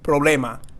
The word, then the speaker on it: problema: R letter combination so that makes that pro pro so it's almost like a rolling R but it's just very subtle problema problema so they can barely hear it means don't worry